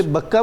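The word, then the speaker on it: بكة: اللہ تعالیٰ اس کی حفاظت فرماتا ہے۔ اسے بکہ بھی فرمایا، جی، بکہ بھی فرمایا گیا، بکہ بھی ایک تلفظ ہے جی، اور اسی کو مکہ بھی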